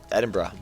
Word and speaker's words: Edinburgh: I did a semester bought in uh uh Edinburgh oh wow well done for pronouncing Edinburgh correctly and being North American wow and being